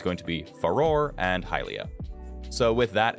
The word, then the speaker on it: Farore: or fi or faor uh I'm going to pronounce it foror and halia as well I say halia because